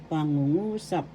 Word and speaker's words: pangungusap: sentence structure sentence pangungusap first syllable pa second syllable ng third syllable and fourth syllable sa the accent is in the third syllable so you pronounce this pangungusap that sentence in English